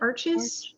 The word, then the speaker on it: Arches: I use, how do you pronounce it? Arches?